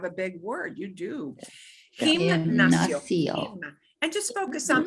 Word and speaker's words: gimnasio: Gimnasio. Gimnasio. So the emphasis is on the NAS.